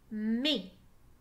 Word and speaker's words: mai: Mais dans le mois de mai, le son E s'écrit A-I.